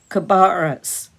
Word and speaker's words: Cabarrus: Cabarrus, he made it out. Cabarrus, corrected the stranger, stressing the second syllable and sounding it as in barrel.